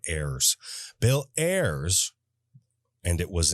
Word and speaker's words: Ayers: His name is spelled Ayers. So when you read it, you want to say Ayers like a frickin' pirate instead of Ayers.